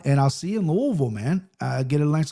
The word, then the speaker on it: Louisville: Don't say Louisville. They get very upset. It's Louisville. I dated a girl from Kentucky. I married a Kentucky woman. Louisville. Yeah. Yeah. Not Louisville.